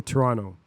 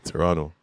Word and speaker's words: Toronto: They say Toronto. You don't pronounce the second T. I forgot there was a T in there, bro. There shouldn't be a T. Toronto.